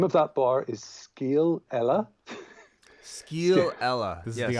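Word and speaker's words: scéal eile: The name of that bar is Scale Ella. Scale Ella. This is the Irish pub that we went to in Japan. Okay. Yeah. Interesting. Skeel, it just rhymes with my first name, and Ella.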